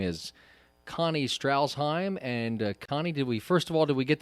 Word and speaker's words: Strashheim: Her name is Connie Strashheim. And Connie, did we get that last name pronounced correctly? Yeah, pretty close, Greg. It's Strashheim, but that's okay.